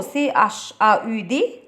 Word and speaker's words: chaud: شو CHAUD والدي هنا مش بتتنطق.